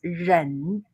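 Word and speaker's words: 忍: Yeah, the meaning of the letter is pronounced ren.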